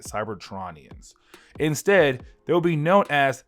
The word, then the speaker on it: Cybertronians: except they won't be known as Cytronians or Cytronians, Cybertronians, I think how you say it, Cybertronians.